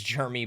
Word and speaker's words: Germie: It is spelled Ge Ri E. It is Jeremy Bernard.